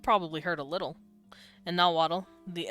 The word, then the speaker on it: Nahuatl: And nahuatl, the S, yeah, it's, like, oxalotl is technically, axolotl. And it's not tl, it's nahuatl. The TL is, it's like a the Welsh sound, sla, so it's tla.